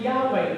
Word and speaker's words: Yahweh: is the personal name he gave him we pronounce it yahweh you know what the the jewish people they